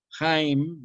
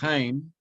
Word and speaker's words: Heim: estar en su casa jaim da la idea de intimidad no estar en su intimidad casera o en su intimidad personal Eso significa un heim repito heim escrito a e i m heim de ahí viene la